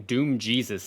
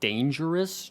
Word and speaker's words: Danejerus: A lot of you kept saying Doom Jesus. It's actually Danejerus.